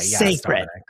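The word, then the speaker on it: Cécred: I didn't know that the CE was say as in Beyonce. As in Beyonce. Sacred.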